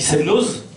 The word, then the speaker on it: Semnoz: peu près plausible de pourquoi on ne dit pas Chamonix, sauf si on est parisien, qu'on dit Chamonix, qu'on dit Semnoz, on prononce le Z et puis on ne prononce pas le X.